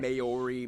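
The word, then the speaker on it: Māori: Oh man, it's pronounced I actually Maori, feel not better. Maori, Maori.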